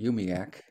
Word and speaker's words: UUMUAC: multi-racial Unity Action Council we abbreviate our long name to uumuac and pronounce it umiac because UMO Act is kind of hard to say this is the prize